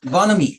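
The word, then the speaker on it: bonhomie: m i e mommy it is bonami bonami Bon yes H remains silent bonami bonami uh c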